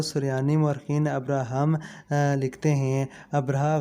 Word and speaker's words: ابرہہ: مورخین ابراہم لکھتے ہیں۔ ابرہہ غالباً اسی کا حبشی تلفظ ہے کیونکہ عربی میں تو اس کا تلفظ ابراہیم ہے۔ یہ شخص رفتہ رفتہ